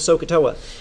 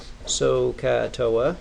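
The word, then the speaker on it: SOH CAH TOA: well for me because it's spelled so s oh ha you can hear the aah in there and TOA which is 0 then a now these are signed coast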